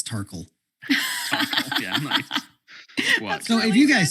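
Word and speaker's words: Tarkuhl: actually no it's like it's spelled like uh like sparkle but it's terkel yeah so if you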